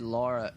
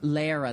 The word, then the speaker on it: Lara: He said Laura, but it's spelled Lara. Lara, that's it's what it is.